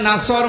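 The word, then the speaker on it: نصر: এখানে সোয়াদ আছে, নাসর মানে সাহায্য, আর নুন সিন র নাসর মানে ঈগল পাখি।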